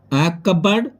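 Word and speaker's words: cupboard: हैं इसके बाद देखिए फ्रेंड्स पी कहां कहां साइलेंट रहता है यानी की यदि एन तथा एस से पहले पी प्रयुक्त होता है तो फिर साइलेंट रहता है उसे समय प्रयोग हो तो जैसे की कपबोर्ड कपबोर्ड यह होता है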